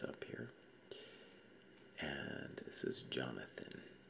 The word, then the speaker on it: Jonathan: hebrew name but uh we pronounce it with the j sound now but if you go to like germany it would be like with the way he spelled it with a y yonatan and uh that's i